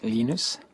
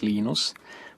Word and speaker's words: Linus: I speak Swedish it's heinous when I speak Finnish it's Lino's when I speak English its Linus and I really don't